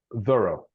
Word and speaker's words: thorough: Thorough. Let's see our pronunciation here.